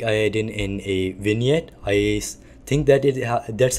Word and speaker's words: vignette: with some setting like I didn't in a vignette I think that it that's how it's supposed to to be pronounced but it is basically v i g